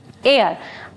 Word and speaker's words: heir: will be spoken OK, here H will remain silent, it means successor , it is used for the coming generation, tender means young and air means successor, i.e.